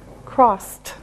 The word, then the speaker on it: crossed: Remember after an s sound it's a t sound. Cross. Crossed.